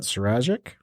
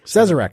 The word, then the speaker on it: Sazerac: Well, it comes from the good folks at Suragic. Yeah. I think that's how you pronounce it. Sure. And they own Buffalo Trace. Okay. Right, which is one of your favorites out there. Yep. Sazerac, thank you.